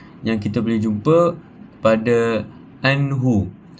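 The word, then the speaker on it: عنه: kita boleh jumpa pada anhu. Anh nun bertemu dengan huruf ha. Ah a hukum membacanya adalah tanpa dengung dan a membaca tanpa dengung.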